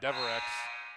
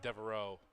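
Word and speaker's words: Devereux: for that one because todd was sitting next to me going devorex and i thought he was mispronouncing it when he wasn't and so that's my bad mr deverex not devereaux it's the it's the monkton pronunciation you know i don't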